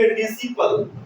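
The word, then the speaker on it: disciple: आप य पर क्या कता है इसको पढ़ेंगे डिपल ससी यहां पर इस सी नहीं पढ़ रहे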